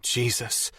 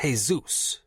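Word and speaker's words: Jesús: Thank you, Jesus, I said aloud, happy to be free of at least one current burden. Detective Santos smirked. It's pronounced Jesus.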